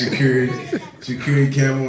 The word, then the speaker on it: Shu'Kuri Campbell: She pronounced his name wrong, but it's all right though. Everybody do it. It's Shu'Kuri Campbell, and I'm Talib Campbell, and we the Cboyz.